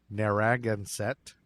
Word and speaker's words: Narragansett: at the entrance to narragansett bay i've never been able to say that that's how you say it i looked it up